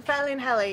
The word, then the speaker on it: Felinheli: we're actually are we well how do you pronounce it we're in fell in heli he fell in Ellie in North Wales fairly